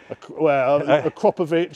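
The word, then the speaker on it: Akrapovič: I've had the Akrapovic or Akrapovic. How do you pronounce it? Akrapovic. Akrapovic.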